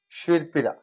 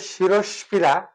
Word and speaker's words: শিরোপীড়া: এবার যদি এমন একটা নেই যে শীত যোগ পীড়া, শির পীড়া, তাহলে এটা যাতে শিরস পীড়া সজাত বলি না, বা শিরর পীড়া রজাত বলি না, সঠিক উচ্চারণ হচ্ছে শিরোপীড়া বলি।